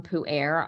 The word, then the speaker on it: pu'er: It's pronounced pu'er.